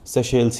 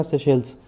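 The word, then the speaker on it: Seychelles: तो सेल से आपको एक ही ऑप्शन मिलेगा सेश सेल्स और इतना बहुत ज्ञानियों की तरफ प्रोनाउंस करने की जरूरत नहीं कि हम इसको सेशल्स ही पढ़ेंगे तो पढ़ते रहना सेशल्स ठीक है बस भारत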